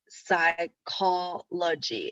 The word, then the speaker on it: psychology: Okay, so psychology, it's not 4 consonants because in English, the P, it's not pronounced. It's psychology.